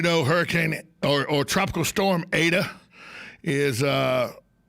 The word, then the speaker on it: Eta: to pronounce it a lot of people said etta the correct pronunciation is ada zeta eta uh if you uh know the